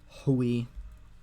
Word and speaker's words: ḥwj: here um um it's egyptologists will just pronounce this Hui because they see an h and W and I even though this is not an i it's a vowel placeholder um all right um